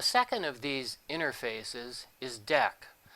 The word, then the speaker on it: Deque: element exception the second of these interfaces is dec spelled the same as dq but pronounced dec the prefix d e is an